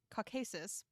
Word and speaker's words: Caucasus: was imprisoned on a rock in the caucasus caucasus two in august mountains right yes yeah there we go pronunciation that's where the term caucasians comes from